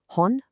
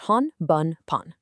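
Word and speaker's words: 本: You only need to remember the onyomi variations provided here. Hon bun pun. There's absolutely no separate kunomi to memorize for this specific N5 requirement. Just hon meaning book.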